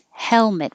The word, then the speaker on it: helmet: very short planet helmet helmet we do say the l there cafe cafe brochure brochure